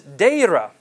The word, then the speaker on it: Deira: And he says, Deira. Deira is spelled D-E-I-R-A, or something close to that at least.